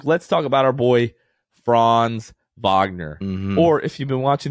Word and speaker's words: Franz Wagner: watching the espn broadcast his name might be franz wagner it might be franz wagner it might be franz wagoner it just depends but they certainly don't know how to say franz wagner which is the correct pronunciation of his name